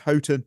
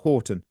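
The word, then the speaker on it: Houghton: And in the book I found out her surname is pronounced H Hotton, not Horton.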